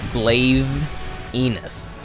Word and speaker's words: Glavenus: more punctuation punctuation pronunciation Punctuation is different but if you want to get on me for that it's glaive enus regardless use his weapons